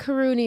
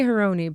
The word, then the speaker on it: Harouni: been saying haruni yeah I think karuni is probably the last I think Arabic pronunciation but I think my family Americanized it I think we go with whatever you say your name I say heroni but well then that's